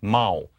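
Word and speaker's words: 猫: What's cute about the sign for cat, though, is that it's pronounced mao. And that sounds kind of like meow.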